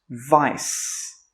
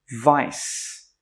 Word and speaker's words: vice: Remember in the intro we had this word here, and it's pronounced vice. Vice. This word here has a C, but it's actually pronounced as an S.